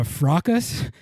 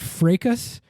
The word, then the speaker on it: fracas: Mexico game uh I was calling it a fras apparently that's pronounced frus I I didn't I I didn't know that